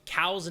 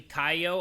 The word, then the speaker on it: Caillou: And two, the pronunciation of Cow's name is actually Caillou. I'm pretty sure a lot of people are screaming at me in the comments about it not being pronounced Cow but Caillou.